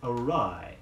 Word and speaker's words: awry: was considerable the word awry a WR y means wrong or ask you'll say his scheme went awry his scheme went awry be sure you get the correct vowel sound in that be a de